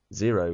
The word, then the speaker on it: Xero: Zero, incidentally, is spelled Xero.